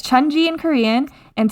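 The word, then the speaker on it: Cheonji: Yeah, it's Chunji in Korean and Tianchi in Chinese.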